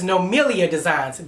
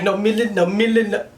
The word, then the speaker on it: NoMilliaDesigns: TrinityComedy on social media, as well as NoMilliaDesigns. That is how it's pronounced. People be like, NoMillia.